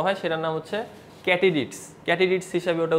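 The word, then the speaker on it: katydids: দৈর্ঘ্য প্রস্থে বড় হয় সেটার নাম হচ্ছে ক্যাটিডিটস ক্যাটিডিটস হিসেবে ওটা উচ্চারণ করেন এটার বাংলা আমি নিজেও খুঁজছিলাম গুগল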